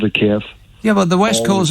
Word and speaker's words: Kyiv: What did you mean when you said it's Kiev, not Kyiv?